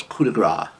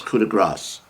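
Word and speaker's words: coup de grâce: but you never know uh and most people pronounce it as coup de grace which is the way i've been pronouncing it for years it's kuda grass don't worry about that one because you'll never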